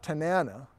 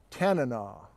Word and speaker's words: Tanana: I've had many viewers say, you're saying it's not Tanana. It's not like banana, even though it's kind of spelled like it. Like, I'd love a banana. I'd love a Tanana.